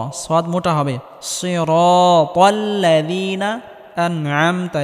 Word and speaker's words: أنعمت: সিরাতাল্লাযীনা আনআমতা, এখানে আইন গলার মধ্যে হালকা চাপ দিয়ে উচ্চারণ করতে হবে।